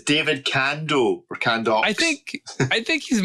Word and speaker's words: David Candaux: Yeah, I also realised that much like Sriracha from earlier on, I've been adding an L to his name. So it's pronounced David Candaux.